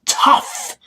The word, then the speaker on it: tough: No, it's tough. Tough. Tough. O-U-G-H sounds like uff.